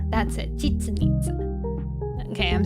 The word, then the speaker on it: Chichen Itza: Chichen Itza. That's it, Chichen Itza.